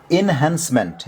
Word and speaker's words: enhancement: एउटा वर्ड यो छ ओके यहाँ लेखिएको इनहान्समेन्ट यसको उच्चारण हुन्छ इनहान्समेन्ट इन्हेन्समेन्ट उच्चारण शुद्ध सिक्नु होला है।